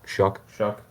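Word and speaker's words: Shough: How do you say his name? Shuck, like corn.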